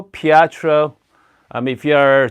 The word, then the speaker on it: Pietro: grinder okay all right so uh it's called Petro Pietro I mean if you're a true Italian let